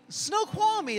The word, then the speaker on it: Snoqualmie: How do you say it? Snoqualmie. That didn't sound that hard. Oh, I read it. It looked hard, but it was kind of easy once you said it.